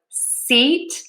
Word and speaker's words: seat: do e long and tense for sheet versus sit. My mouth is more relaxed for that short I sound. So, seat, sit, seat, sit.